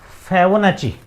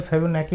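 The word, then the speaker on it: Fibonacci: एफ आई बी ओ एन ए सी सी आई उच्चारण थोड़ा अटपटा सा है। फेबोनाची फेबोनेची अनुक्रम पढ़ा जाता है इसको। मैंने शायद कल फेबोनेकी बोला था।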